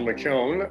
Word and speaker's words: McKeown: My name is McKeown, and I'm 71 years old. To help you pronounce that, as one of my nephews would say, there's a yo in McKeown, dude.